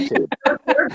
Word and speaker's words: Entin: Entin.